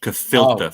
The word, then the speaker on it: gefilte: Gefilte fish. Oh, well, it's disgusting, but it's pronounced gefilte fish.